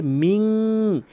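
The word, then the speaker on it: مِنْ: তো এখানে মিং বলতে হবে, অধিকাংশ লোক মিন বলে থাকে।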